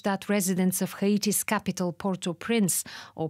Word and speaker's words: Port-au-Prince: And it's language that residents of Haiti's capital, Port-au-Prince, or Port-au-Prince, as they would pronounce it, would be familiar with.